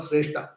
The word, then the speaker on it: Sreshta: Sreshta means the best, and the most important among them is called Sreshta. So nowadays people name the male child as Sreshta. Okay, you have to pronounce it properly. That's very important.